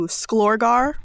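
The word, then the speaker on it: Sklorgary: wives is in that there's just one y but it's at the end and it's silent um s-k-l-o-r-g-a-r-y s k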